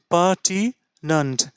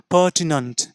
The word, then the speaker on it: pertinent: এবার ই সাউন্ডকে এখানে রাখা যাক, তাহলে pertinent, pertinent, pertinent, এনইএনটি, নেন্ট না, নান্ট, এমইএনটি, মেন্ট না, মান্ট, নান্ট, মান্ট।